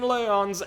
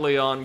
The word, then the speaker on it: Leon: It's time for Champion Leon's exhibition match. Well, I suspect, given the culture they're drawing on, it would just be pronounced Leon, but...